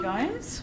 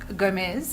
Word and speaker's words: Gomez: And my esteemed colleague, Krisitn Gnomes, or Gomez, I believe is the correct pronunciation.